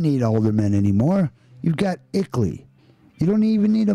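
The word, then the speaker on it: ICLEI: around the world equally as the acronym is pronounced brings the international into your town you don't need aldermen anymore you've got ickley you don't even need a mayor you've got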